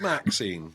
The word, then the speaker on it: MaXXXine: I don't know how to pronounce this, because it's got just three MaXXXine. X's in the middle. It's just MaXXXine, but there is a reason. I'll explain it. Oh, okay. Right. Well, we're looking at MaXXXine in just a minute.